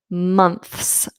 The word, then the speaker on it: months: Months is a difficult one like the word sixth. It's a mouthful because you've got the th into the s.